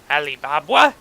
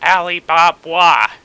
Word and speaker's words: Alibaba: careful Aly you no Ali Baba baa it's Alibaba but Disney pronounces it alib Baba like they have to be all fancy about it why you got to